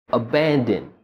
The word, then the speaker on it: abandon: what we do is we do not pronounce the vowel sound, we only pronounce the N sound.